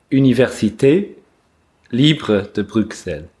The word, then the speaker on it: Université Libre de Bruxelles: help me, at the Université Libre de Brussels. Okay. How do you pronounce that? Université Libre de Bruxelles. Okay, that's much better.